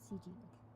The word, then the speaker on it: Ci: Oh, so that's how you pronounce it, CG.